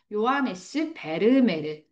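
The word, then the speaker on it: Johannes Vermeer: 발음자기가. 그래서 요하네스 베르메르.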